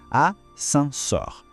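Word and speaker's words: ascenseur: Entraînons-nous à prononcer « ascensor ». « Asensor ».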